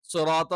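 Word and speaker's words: صِرَاطَ: സിറാത്ത നമ്മൾ പറഞ്ഞു സ്വി തെറ്റാണ്. അറബിയിൽ അങ്ങനത്തെ ഉച്ചാരണങ്ങളില്ല. സ്വി എന്ന് പറയുമ്പോൾ സ് വി. അപ്പൊ 2 ലക്ഷരം വരും. അതിൽ തന്നെ സ എന്നുള്ള ഉച്ചാരണം തെറ്റാണ്. കാരണം സായല്ല, ഇതെന്താണ്? സ്വായാണ്.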